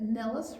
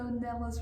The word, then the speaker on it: Nilles: learning your name that Nilles rhymes with trellis.